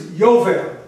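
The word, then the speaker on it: יובל: In Hebrew it's yovel. Ya is the j.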